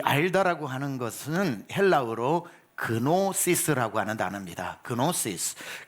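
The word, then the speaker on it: γνῶσις: 이 알다라고 하는 것은 헬라어로 그노시스라고 하는 단어입니다. 그노시스라고 하는 게 KNO 이렇게 시작을 하거든요. K는 묵음입니다. 그래서 노시스, 그노시스라고 하지만 여기서 노스티시즘 이런 게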